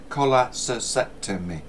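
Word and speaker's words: colectomy: quite a mouthful so think of cola Cola col sectomy it's col sectomy how many syllables is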